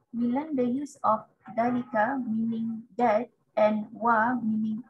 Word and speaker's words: ذلك: Note, Dalika is pronounced Dalika, but it's written without the alif.